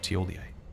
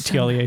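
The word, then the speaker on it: Thiollier: I used to pronounce it Tiolier too, but someone called him Thiolier.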